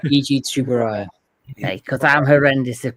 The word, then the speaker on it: Tsuburaya: Tsuburaya. Iji Tsuburaya. Because I'm horrendous at pronunciation.